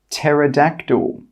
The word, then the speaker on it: pterodactyl: The letter P is normally not pronounced when it's at the start of a word which starts with PN, PS, or PT. Some example words are pneumonia, psychology, pterodactyl. In all of these words, we are not pronouncing the P. It is silent.